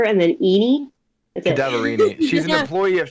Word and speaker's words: Cadaverini: Cadaverini. Cadaverini. Thank you, Crow. And Ren. It's the word cadaver and then Eenie. That's it. Cadaverini.